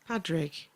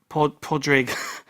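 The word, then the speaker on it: Padraig: Let me just Like Podrick, but like Patrick, but without the hard sound.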